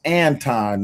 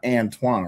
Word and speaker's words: Anton: I don't I gota I gotta Yeah, y'all do know his name pronounced Anton, not Antoine, right?